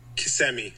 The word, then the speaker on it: Kissimmee: of cool to just see like he's from Kissimmee. That's the way you pronounce it, right?